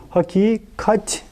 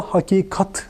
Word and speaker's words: hakikat: ince telaffuzlu bir hece hakikat derken onu da hakikat diye söylemiyoruz hakikat Dolayısıyla bu kelimelerin hepsi